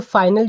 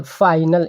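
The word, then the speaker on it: phenyl: कि फाइनल करने में, देखिए फाइनल जो हम प्रोनाउंस कर रहे हैं ना, वो PHAYNAL, फाइनल, इस तरीके से हम प्रोनाउंस कर रहे हैं।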